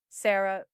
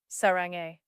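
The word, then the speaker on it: 사랑해: Say it again, he urged when she tried to say sarange, I love you in Korean. Sarah, no, sarong, sarange.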